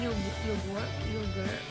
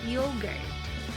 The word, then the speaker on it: yogurt: But it should be yogurt. Alright? Maybe they have difficulty pronouncing it because the letter R. Okay? So please do not pronounce please pronounce the letter R a little bit.